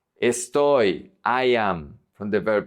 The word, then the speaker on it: estoy: If the Y is at the end of the word, it's pronounced like a vowel. So this is soy. Soy, I am, from the verb ser. Estoy. Estoy, I am, from the verb estar.